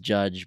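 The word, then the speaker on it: Jydge: what I can gather it's pronounced judge but it's spelled with y JY b GE so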